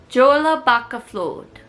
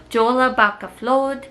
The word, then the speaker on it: Jólabókaflóð: Jólabókaflóð. So my local library is actually participating in a book drive for the Dallas Medical Center. They are calling it Jólabókaflóð, which is the Icelandic tradition of book flooding,